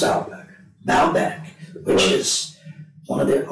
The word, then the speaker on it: Baalbek: How do I pronounce Baalbek? Baalbek, which is one of the original places of the worship of Baal.